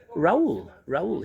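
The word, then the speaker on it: Raoul: How do you spell that? R-A-O-U-L. Raul.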